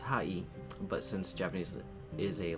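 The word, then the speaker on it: はい: The word sounds like hi or hi. However, remember how E sounds like E? The word hi is actually pronounced hai, but since Japanese is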